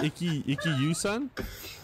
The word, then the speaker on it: Ikkitousen: How do you spell it? Ikkyusen? Ikkitousen.